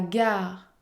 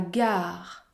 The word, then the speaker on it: gare: Ou encore, la gare, la gare. Je ne prononce pas la lettre E à la fin.